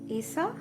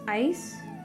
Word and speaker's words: Isa: So, this in Rune Stone is pronounced as Isa, or it's Aish.